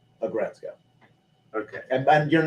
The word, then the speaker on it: Aggretsuko: It's the word is aggressive plus Retsko. Aggretsuko.